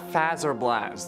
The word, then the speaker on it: Fazer Blast: suggested a battle at fazer blast there are you happy I said it right for once but I like saying phaser okay so leave me